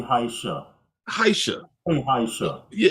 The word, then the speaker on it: Heisha: I want to make sure I pronounce this properly. You guys, Heisha. I say Heisha.